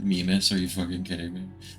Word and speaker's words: Mimas: I said Mimas, are you fucking kidding me? Or it might be Mimas or something. It's Mimas. I'm not very good at pronunciations.